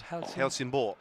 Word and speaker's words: Helsingborg: How do you pronounce Helsingborg?